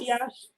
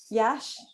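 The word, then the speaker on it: Iași: Florine was born in Iasi. Is that how we pronounce it? Yash. Yash.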